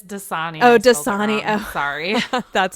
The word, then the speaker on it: Dasani: by Pepsi and Aquafina I never pronounce this Water Company right - money it's Dasani oh just Sonia sorry